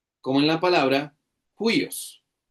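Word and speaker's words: υἱός: Se escribe como una comilla con curva hacia la izquierda y se pronuncia como una J, como en la palabra juyos. Juos.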